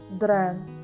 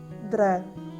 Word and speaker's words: dreng: When we pronounce, the last NG should be soft at the end. So, total all together, we can pronounce it as drang, drang, drang.